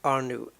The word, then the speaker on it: Arnout: him the proper credit I think I'm pronouncing his name uh Sim racing R new a r n o u t and on his patreon